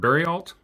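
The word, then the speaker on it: Bariault: And just so that I make sure I get your pronunciations right, they're both lawyers out of Seattle, and Ann Bremner and Evan, is it Berryalt?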